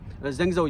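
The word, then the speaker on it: Zhengzhou: ज़ीदी university, चंगचो university जो पहली मरतबा प्रोनाउंस करते हैं हम अपनी टिपिकल लैंग्वेज में, ज़ेंगज़ो यूनिवर्सिटी, ठीक है।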